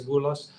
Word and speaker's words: Bulas: Uh, it's basically my full name in lowercase Ferris Bulas day off because as you can see, my name rhymes with Ferris Beller.